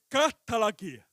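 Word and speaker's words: καταλλαγή: Eu coloquei aqui, ó, a palavra reconciliação no grego é katalagê. Se pronuncia exatamente desta forma. Eu tenho um pouco de conhecimento da língua grega. E no grego, katalagê significa que é um dos aspectos da obra de Cristo como redenção.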